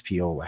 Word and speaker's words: Pola: You can call her Paula if you want to, but her name is Pola Harris. Yes. It's how it's pronounced in Italy.